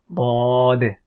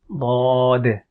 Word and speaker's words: ض: It is Daad, Daad, and the sound is D.